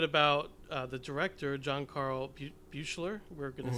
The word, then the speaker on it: Buechler: And I did want to talk a little bit about the director, John Carl Buechler.